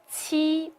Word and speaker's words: qi: If ji and qi are personified, ji is nice and kind, while qi is bad-tempered. So, ji is unaspirated, while qi is aspirated. A strong release of breath is made when qi is articulated.